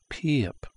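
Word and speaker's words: 피읖: this is called the pup pup and it looks like Pi up but this is an e sound so they say p pup and let me get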